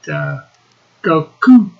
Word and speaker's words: Goku: Actually, it's pronounced Goku. Goku. Coo. Coo. Coo. It is the Japanese translation of the name Wukong.